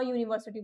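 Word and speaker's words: university: Younis sound हो रहा है ये? योर से साउंड हो रहा है। और जस्ट इसकी प्रीवियस स्लाइड में मैंने आपको बताया था कि अगर कोई भी चीज वोवेल वर्ड्स में इंस्टेड ऑफ़ बीइंग वोवेल वो योर से साउंड हो रही है तो हम उसको क्या बोलेंगे? अ यूनिवर्सिटी बोलेंगे।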